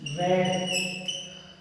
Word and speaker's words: read: बाद होगा और बी रेड। इसका प्रोनाउंसिएशन ध्यान रखना, फर्स्ट फॉर्म के अंदर रीड, सेकंड और थर्ड फॉर्म में रेड, ठीक है।